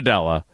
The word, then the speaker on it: Della: Gina Della. It rhymes with Pella.